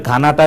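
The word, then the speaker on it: Ghana: বুঝেন তারা এই ধরনের গানটা নিয়ে কিন্তু অনেকে এটাচ ফাইল করে পাঠিয়েছেন যে রিয়েল উচ্চারণটা হচ্ছে গানা স্পেলিংটা হচ্ছে জি এইচ এন এ এটা হেইচ টা অলওয়েজ সাইলেন্ট থাকবে যখন উচ্চারণ করবেন তখন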